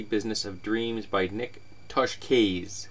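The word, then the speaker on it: Tosches: of Dreams by Nick Toshkes, which I think I'm pronouncing correctly. It's Italian, and I just looked it up.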